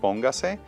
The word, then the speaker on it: póngase: Ponga by itself does not require an Doesn't accent, have it. but we add that extra syllable, the se, and so now the stress is still in the po, but we added that extra syllable, so it changes everything. So we want to keep the emphasis in that same syllable that it had it in before.